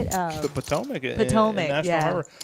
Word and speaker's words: Potomac: The Potomac.